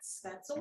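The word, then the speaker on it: Spätzle: this and i think i'm saying it right spencel maker okay jim says yes and he would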